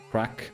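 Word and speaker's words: craic: Yeah, it's spelled C R A C R A I C. It's actually in my tags. Crack and Kraken banter just to make sure.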